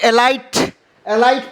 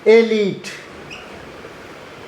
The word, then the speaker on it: elite: चलिए अगला वर्ड हम देखते हैं ELITE, इसे क्या पढ़ते हैं? बहुत सारे लोग एलाइट पढ़ देते हैं, जबकि ये होता है एलीट होता है, इसे हम ऐसे पढ़ेंगे एलीट।